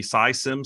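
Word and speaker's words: Sy Syms: I'm pleased to have Noam Wasserman, who is the Dean of the SciSims School of Business. Did I get the pronunciation of SciSims right?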